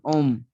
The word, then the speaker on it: homme: Sir, the H is silent. That is why it is called Om.